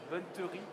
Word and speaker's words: bonneterie: Aymeric Brousseau, président de Brousseau Textile, la chaussette, la bonneterie. Bonneterie, c'est la bonne prononciation.